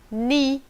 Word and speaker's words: knee: Knee, no, knife, knock. Nessas palavras, por exemplo, nós não pronunciamos a letra K antes do N no começo da palavra. Todas elas começamos com som de N. Knee, no, knife, knock.